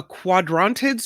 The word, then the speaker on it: Quadrantids: see uh January 3rd and 4th the a quadrantids meteor shower is that right yes good good pronunciation that's right so every once in a